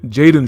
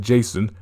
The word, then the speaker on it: Jaden: were from first uh jade jaden schwartz almost had the name wrong i almost said jason i had to look